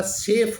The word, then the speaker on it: chef: यहाँ सी के बाद में एच आया है तो चेफ होना चाहिए, लेकिन यहाँ अपवाद है, ये चेफ नहीं होगा, ये शंकर वाला सेफ होगा।